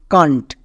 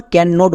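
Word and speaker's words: can't: কান্ট। কান্ট। একে আমরা আবার ক্যাননট বলবো না। একসঙ্গে উচ্চারণ করব।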